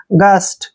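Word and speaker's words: gust: देखिए जी यू का उच्चारण यहाँ पर ग होगा, जब भी जी के बाद यू आता है वहां पर जी का उच्चारण हम ग करते हैं। एस को आधा सह पढ़ेंगे, टी को टे।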